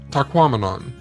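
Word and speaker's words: Tahquamenon: is to remember that it rhymes with phenomenon as in taquon these Falls are the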